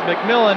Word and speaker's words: McMillan: pronounces his name because it could go mcmillian but he says it's mcmillan and be ready to